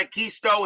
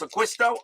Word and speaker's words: D'Acquisto: that john de quisto it's not a keystone it's aquisto okay bbb i'll take